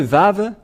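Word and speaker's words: ו: ici entrer dans l'alphabet voilà le vave voilà vave ou V c'est bien ça donc c'est pas du tout wou mais on le prononce bien V et le vave est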